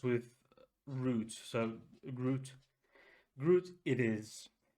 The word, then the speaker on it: gruit: present so it's a uh barel age Imperial Groot I tried to check the correct English uh pronunciation but Groot it's just it just said it that was just the spelling and then rhymes with Groot so Groot Groot it is it's been aged in vermouth